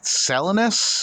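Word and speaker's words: Salinas: four shows left next week and uh apparently selinus is how you pronounce it California is a non-points event from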